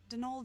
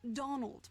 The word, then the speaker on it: Donal: That was the caretaker, Donald Delaney. Not Donald, mind you. There's no D at the end, so it's pronounced Donal.